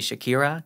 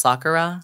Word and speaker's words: Sakura: you could say anything people called me Shakira cuz they can't pronounce Sakura oh that's fine sh